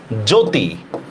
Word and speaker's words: জ্যোতি: তারপর দেখেন জ্যোতি, জ্যোতির মধ্যে দেখেন তো জফলার উচ্চারণ হয় কিনা? কোনো জফলার উচ্চারণই হয় না, কি দরকার? জয়কার জো তরস্কাতি, জ্যোতি, ঠিক আছে? শব্দের শুরুতে জফলার কোনো উচ্চারণই হয় না, ঠিক না?